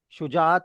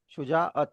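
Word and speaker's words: شجاعت: शुजात नहीं है ये, शुजाअत है। शुजा के बाद आपको थोड़ा सा रुकना ही पड़ेगा अत बोलने के लिए, शुजाअत, नॉट शुजात।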